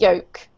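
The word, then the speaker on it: yolk: yoke right an egg yoke so the L is not pronounced so it's pronounced folk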